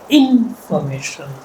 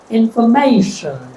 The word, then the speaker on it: information: So if I stress the first syllable, it will become information. If I stress the second syllable information. If I stress the third information. If I stress the fourth information. Which one is normal? I'll repeat. If I stress the first one, information, second information, third information, and fourth information, the third one.